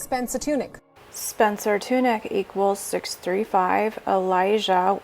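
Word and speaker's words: Tunick: nude photo shoot by renowned american artist spencer tunis spencer tunic spencer tunic equals 635 elijah it's spelled wrong l e l i j a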